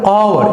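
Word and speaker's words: hour: তো একটু ক্লিয়ার করবে, আওয়ার, এই উচ্চারণটা কি হচ্ছে, আওয়ার, আওয়ার, আওয়ার, vocal sound থেকে সরাসরি বেরোচ্ছে।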